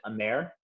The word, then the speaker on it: amer: Once again, very similar to Averna, just a French-made Amaro, which they pronounce it Amer, one and the same, just meaning bitter.